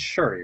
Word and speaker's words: Shuri: Um, uh, it's Shuri, right? Yes. I don't know why I'm like suddenly weird on the pronunciation.